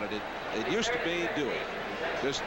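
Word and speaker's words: Duhe: It used to be Dway. Just D. Yeah. Apparently though, the Cajun pronunciation is Dway.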